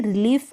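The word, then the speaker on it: relief: Same ऐसे ही रिलीफ आप पढ़ेंगे। तो यहाँ पर एंड में आप देख रहे होंगे कि सेम स्पेलिंग्स होगी, तो उनका प्रोनाउंसिएशन भी सिमिलर सा होगा।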